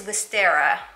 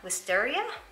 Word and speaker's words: Wisteria: four of these so this one is wistera wisteria that's how you pronounce it hopefully it's picking